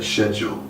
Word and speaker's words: schedule: - 네, 심지어 발음까지요 So for example, 예를 들어 the older generation would tend to say schedule, 기성 세대는 일정을 "쉐쥴"이라고